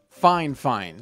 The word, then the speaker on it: Fifine: all let's get one thing clear fifeine is pronounced fine fine so don't look at me all crazy when